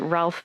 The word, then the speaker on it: Ralph: pulled out and going, neither of those names are spelled that way. And so why do we have to pronounce them that way? Is it Ralph Fiennes?